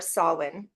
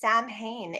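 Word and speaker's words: Samhain: so that's where I start with Halloween or soln as we say in the British traditional kind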